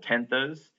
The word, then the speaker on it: tenths: place name the tenos I like to pronounce the th just to know that you are in uh saying the decimal tenths versus tens which is all